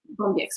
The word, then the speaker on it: Bombyx: But so I'm here today with Lucy Blackley from Bombyx PLM. Did I pronounce it correctly? Bombyx PLM, yeah. Bombyx, yeah.